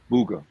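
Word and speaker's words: Buga: Booga. Yeah, it's booger. My fault cuz the the the U makes the ooh sound.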